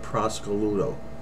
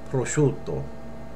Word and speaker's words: prosciutto: market and she said give me a half a pound of Prosecco Ludo you will never say that you'll say prosciutto okay we'll say it